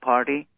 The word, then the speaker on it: Parti: t i dot com my last name you know it sounds like party in american pronunciation instead of y it is i for india so that's the easiest